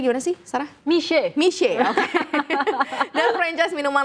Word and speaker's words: Mixue: Ini bacanya gimana sih Sarah? Mich.